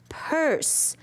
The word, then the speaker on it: purse: Did you notice there was a silent E there, boys and girls? Silent E doesn't do anything, but we do need it with us. Do need it when we spell the word purse.